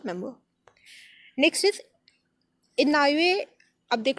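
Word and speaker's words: Inouye: Next is इनॉये। अब देख लो इसको प्रोनाउंस कैसे करना है, इनॉये सोलर टेलीस्कोप।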